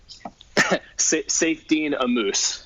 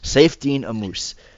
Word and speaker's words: Saifedean Ammous: Saifedean Ammous. Saifedean Ammous.